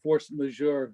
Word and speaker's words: force majeure: Okay, I noticed a force majeure.